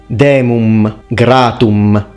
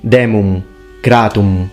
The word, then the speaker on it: demum gratum: He fully pronounces the M, demum gratum. It should be demum gratum.